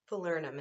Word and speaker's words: falernum: I can't pronounce it let's say falernum Fowler numb falernum falernum is what it says for pronunciation it looks like it